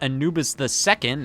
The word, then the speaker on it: Anubis II: Anubis 2 is actually supposed to be pronounced Anubis II, as if this is the offspring of the original Egyptian god Anubis.